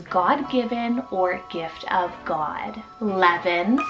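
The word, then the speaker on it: Leven: Levin, spelled L-E-V-E-N, Levin.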